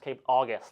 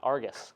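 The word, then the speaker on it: Cape Argus: uh this is pronounced cap August like the month August not Argus but August in a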